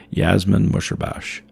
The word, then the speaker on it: Yasmin Musherbash: I've said it wrong, but it's Yasmin Musherbash.